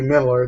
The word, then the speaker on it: Millar: I pronounced it Mark Millar for years and years and years, and then I think I saw something where he said, "Nope, it's actually Miller. That's just the way we spell it in the UK."